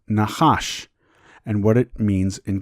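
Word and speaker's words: נחש: Let us take a look at the word serpent in Hebrew, pronounced Nachash, and what it means in Gematria.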